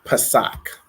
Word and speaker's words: Pesach: So Passover is Pesach. So it's going to be P-A-S-A-C-H. And it's pronounced Pesach.